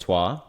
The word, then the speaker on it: Troyes: hear pop up a lot, Troyes, yes, it's pronounced Troyes, in France, Palermo in Italy, recently purchased Bahia in Brazil in the first division, and Club Bolivar from Bolivia.